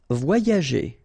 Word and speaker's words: voyager: letter here, okay, and it will be transformed like if you would have deux I, okay, so the first one will be combined with this O, so you will get voix, voix, and then the second one will be connected and combined with this A, ya, okay, so you get voyager, voyager.